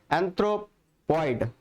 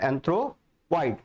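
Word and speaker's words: anthropoid: Another one एंथ्रोपॉइड, है ना, एंथ्रोपॉइड। इसको अगर आप ऐसे प्रोनाउंसिएट करोगे तो और अच्छा रहेगा कि आपने एंथ्रोप एक साल ले लिया और ऑइड वर्ड एक साल ले लिया।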